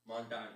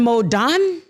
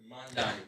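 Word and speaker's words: Mamdani: Say his name for me. Zohan Mandani. Zohan Modan. Mandani. Zohan Modan. Mandani. Mandani.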